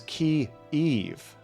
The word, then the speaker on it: Kyiv: Yeah, I think I said Kyiv earlier. I'm just terrible at pronouncing anything, which if you stick around, it becomes hilarious very quick. Kiev, I think. Oh, I'm hearing it's Key-Eve, actually.